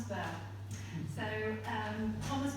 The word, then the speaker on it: Burgh: Uh and I noticed that Paul pronounces it bora but I used to work at the national archives which is where this very beautiful volume of Thomas B's will comes from. And um the pronunciation there was was B. So I'm going to go with that this evening. You'll have to forgive me if that goes against the local local Thomas Burr.